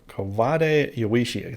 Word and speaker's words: Kawade Yoichi: to say his name right this time ko kovade yawishi thank you kawaishi for the conversation and the